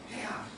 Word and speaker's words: pH: 그래서 이걸 원래 독일에서 넘어왔기 때문에 폐하라고 읽어요. 독일은 폐라고 읽어. 독일어는 폐하. 그런데 영어로는 pH 이렇게 얘기를 합니다.